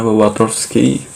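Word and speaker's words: Wartofsky: Nah, di sini ada score Branch and Watowski, atau bacanya Watowski.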